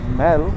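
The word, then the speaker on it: Mall: अभी हम जाएंगे दार्जिलिंग चौरस्ता, that is कॉल्ड मैल। Spelling मॉल है बट मैल कहते हैं।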